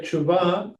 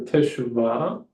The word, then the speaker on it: teshuvah: Yeah, so just like tshuva, you can say tshuva or teshuvah, right? Like really pronouncing the syllables.